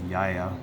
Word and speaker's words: Gaia: It's actually not pronounced Gaia, it's a Yaya, but anyway.